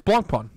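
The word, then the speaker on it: Blancpain: do you say Randy it's Blanc pong yeah by pi right but you said it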